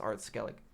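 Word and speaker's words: Ard Skellig: be forewarned that a sorceress has arrived in AR skele her name is yennefer and she hails from vengerberg okay I see Skellig actually doesn't have an e at the end that's why it's pronounced art skele I know that you're immune to feminine ws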